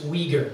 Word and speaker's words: Uyghur: very recently and um possibly that's because in chinese it's way words and so i got the way in my head but it's uyghur that's how the uyghurs pronounce it the wigas are a